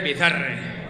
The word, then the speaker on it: Bizarre: Paso de pronunciarlo en inglés porque era... Estamos en España y se dice Bizarre.